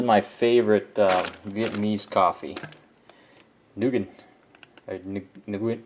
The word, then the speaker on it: Nguyen: Nguyen. It's pronounced Win, but Nguyen.